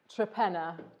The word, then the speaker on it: Torpenhow: torpen how all about the village that we farm in is called trepena to the locals but it is spelt tor pen pow yeah and no